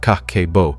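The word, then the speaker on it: kakeibo: In Japan, they have the CABO pronounced kakeo.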